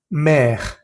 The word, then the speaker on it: mer: Hay que pronunciar bien la E y la R. Por ejemplo, la palabra hierro, fer. La palabra mar, mer.